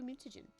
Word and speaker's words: mutagen: Hey, we can make another blue mutagen. Mutagen. It would make sense that it's pronounced like that, because like contagion, mutagen, makes sense.